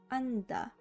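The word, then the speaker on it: 앉다: that is because the second consonant becomes silent if there is no other syllable following or if it comes before a consonant in the next syllable so we can see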